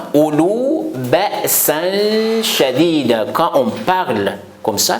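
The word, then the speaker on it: أولو بأسا شديدا: Il ne faut pas prononcer le double A. Ça reste simple A, mais il faut prolonger le simple A. Je répète ça. Ulu ba'san shadidan, la vérité.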